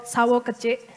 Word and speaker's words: Sawo Kecik: There is one that's called Sawo Kecik. It rhymes.